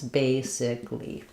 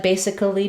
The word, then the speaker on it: basically: It's a little simpler to understand, but in basically, we spell it with that extra vowel letter, but we don't use a vowel sound there. It's just 3 syllables, basically.